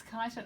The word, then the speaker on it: Kyneton: I'm not even sure how to pronounce it. Kyneton. Kyneton, is it? Yeah, it's Kyneton.